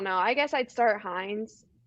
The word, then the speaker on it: Hines: i guess i'd start hines is that how you say his name nine heinz yeah heinz yeah he's he's one